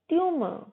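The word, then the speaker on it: tumour: र हमारा साइलेंट रहेगा। ट्यूमर।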